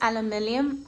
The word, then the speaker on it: aluminium: This is aluminium. Actually, I don't know how to say it American style, but I say aluminum.